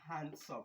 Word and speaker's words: handsome: Sai nan ma handsome kamar cases na wannan tunda ita ma kalma biyu ce aka haɗa ta to D ɗin is silent zai zama handsome ka tsallake D ɗin.